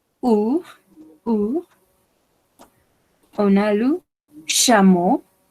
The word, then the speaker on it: chameau: On a le chameau. On prononce 3 lettres ici comme une O. Chameau.